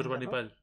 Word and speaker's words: Ashurbanipal: Asurbanipal, así se pronuncia, ¿no? Ashurbanipal.